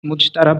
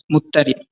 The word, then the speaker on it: মুজতারাব: প্রচলিত উচ্চারণ অনুসারে মুজতারাব লেখা হয়েছে, অন্যথায় নিয়ম অনুযায়ী এর সঠিক উচ্চারণ হবে মুত্তারিব।